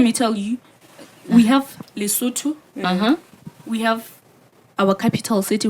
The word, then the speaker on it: Lesotho: you say that in the suit please lately lesotho yeah that is listen to that lesson okay